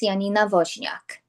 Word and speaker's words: Janina Wozniak: As Don said, my name is Janina Wozniak. I'm an agent with Future Home Realty. I'm actually bilingual in Polish. So for the Polish community, my name in Polish would be pronounced Janina Wozniak.